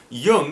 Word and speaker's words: Jung: is not pronounced phonetically it is not pronounced Jung and why is that because my last name is actually German my dad's side of the family comes from Germany so um little uh language lesson here Yung is actually the German word for young so so yeah if